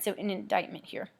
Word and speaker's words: indictment: all right so an indictment here please notice that the C is silent don't say that this